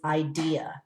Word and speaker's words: idea: This is idea. That I is long because it's an open syllable.